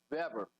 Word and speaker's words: Weber: to europe uh specifically in germany the w is pronounced with a v and so in america